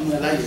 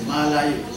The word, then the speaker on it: Malayu: And he talked about the Malayu, not Melayu, Malayu, as it's spelled, has existed for a